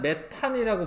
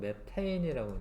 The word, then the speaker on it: 메테인: 이름을 옛날에는 메탄이라고 불렀어. 메탄. 근데 원래는 요거를 이제 우리가 봤을 때 안 같긴 하지만 실질적인 영어 발음은 애인이기 때문에 이름을 이제 좀 바꿨어요. 옛날에는 메탄이라고 썼는데 지금은 메테인이라고 이제 부르는 거죠.